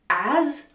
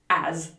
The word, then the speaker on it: as: And the pronunciation is as with the z sound, as.